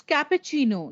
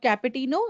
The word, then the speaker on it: cappuccino: ironing my clothes right it's cappuccino not capputino it's cappuccino latte cappuccino alzheimer alarm